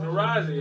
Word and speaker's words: Taraji: How do you pronounce her first name correctly? Taraji? Taraji.